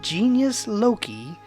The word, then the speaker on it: genius loci: Pronounced genius loci, it roughly translates in English as spirit of place.